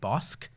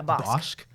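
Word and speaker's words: Bossk: It is very, very accessible, especially since it's pronounced Bosk. Yeah, Bosk.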